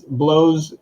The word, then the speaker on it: Bleaux: the first one is Blow's one of our artists, and I just realized that sounds weird when you say it like that, but Blow is his name, Bleaux, and he just released this Friday.